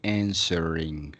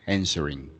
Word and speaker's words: answering: god it's okay remember the pronunciation for this word is like the W doesn't exist so you say answering answering yes no worries it's